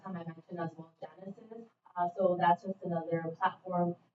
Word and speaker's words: Genasys: Genesis is spelled GENASYS.